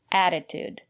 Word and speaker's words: attitude: and here's another word attitude the first letter T is pronounced as a fast D because